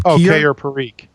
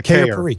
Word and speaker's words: Keir Parikh: engineers, Junius Kim, and I'm not sure how to pronounce his name. Keir Parikh. Yeah, Keir Parikh, yeah.